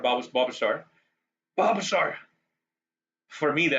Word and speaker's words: Bulbasaur: So I wonder if it really is Bulbasaur or is the L not silent? Anybody in chat know? Is the L to be pronounced like Bulbasaur or Bulbasaur?